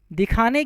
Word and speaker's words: the: राष्ट्रीयता को दिखाने के लिए डेफिनेट आर्टिकल का प्रयोग किया जाता है।